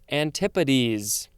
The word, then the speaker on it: antipodes: do you pronounce the plural version it is antipates that's how you pronounce it thanks guys i hope i remember that antipodes this is a noun from 1549 one the